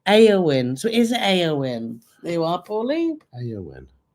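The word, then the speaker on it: Éowyn: The storm's name is from the Lord of the Rings, pronounced Eowyn.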